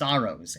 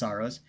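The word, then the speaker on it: Saros: Sorrowos, actually, it's pronounced Soros.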